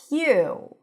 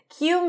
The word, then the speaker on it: queue: Queue. Queue means a line of people or things waiting their turn. Queue, queue, queue. And it's just like the letter Q, okay?